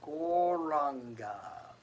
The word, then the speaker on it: Gauranga: Gaur, Ra, Ang, Ga. And then we can put those syllables together to say Gauranga.